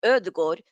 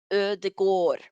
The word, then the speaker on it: Ødegaard: So that letter there is called Ö, and it makes it sound Ö. So like with Ödegård, Ö, Ödegård.